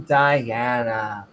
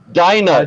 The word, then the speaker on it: Dinah: and afterwards, she bare a daughter and called her name Diana. Holy moly! Finally, That's The name, yeah. That's Dinah.